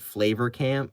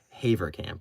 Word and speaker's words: Heaver Camp: I I was pronouncing it Flavor Camp because I was stupid and I don't know how to read, but it's Heaver Camp, right?